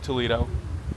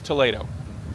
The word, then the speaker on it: Toledo: Now it's spelled Toledo and it looks like Toledo, but I've been told it's Toledo.